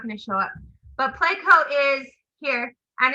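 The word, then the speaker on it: Pleco: first one i wanted to talk about was placo and this is a wonderful app especially if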